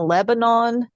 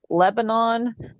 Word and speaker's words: Lebanon: to Middle Tennessee to figure out that pronouncing a Lebanon Lebanon everybody's making fun of me that's not how you say it it's Lebanon I'm like what well Lebanon well JY it's when you coach cheerleading there and they're doing their cheer it's Lebon so yeah Le just that's how they pronounce it so everybody it's